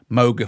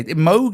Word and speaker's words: Moog: you know muga fuga you don't say Moga foga do you or Moga fuga it's it's definitely yeah Moog is Right Moog is right uh